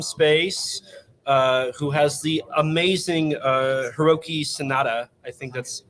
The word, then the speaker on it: Hiroki Sanada: Who has the amazing Hiroki Sanada. I think that's how you pronounce his name. He was in the Wolverine, Avengers Endgame. Did I say that name right? Hiroki Sanada?